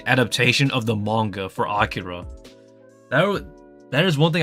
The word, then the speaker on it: Akira: Akira and whatnot uh uh I know people pronounce it as Akira but it's Akira like oh gosh oh man why do people